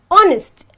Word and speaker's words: honest: I'll tell you why when I pronounce the word honest I have to say honest and not hardest so automatically this becomes silent and the first word